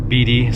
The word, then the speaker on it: Beatty: nevada or beatty b-e-a-t-t-y i've heard it pronounced bd so i'm just trying